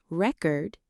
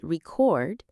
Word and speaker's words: record: For example, record versus record. Misplacing stress can confuse listeners.